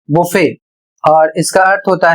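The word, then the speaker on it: buffet: अगला शब्द है बी यू एफ एफ ई टी अर्थात बी U double F ई टी इसे पढ़ा जाएगा बुफे और इसका अर्थ होता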